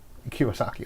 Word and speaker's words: Kiyosaki: Kiyosaki. Yeah. Kiyosaki.